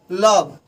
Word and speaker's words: love: जैसे लव है, LOVE, लव, हम इसे लव नहीं पढ़ सकते हैं, लवी नहीं बोल सकते हैं, लव।